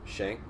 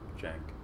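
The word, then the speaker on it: Cenk: Like, blatantly corrupt rather than, like, Shank. How do you say it? How the fuck you say his name? Just say it like it's a J. Jank.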